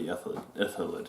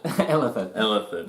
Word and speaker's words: Illithid: It's basically the city of the Ithilid. Illithid. Yeah. Yep. Awesome. So That's my thing. My thing is mispronouncing words.